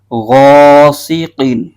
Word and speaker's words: غاسق: اس کے ہجے یوں کریں گے غائن الف زبر غا سین زیر سی غاسی قاف دو زیر قین غاسقین.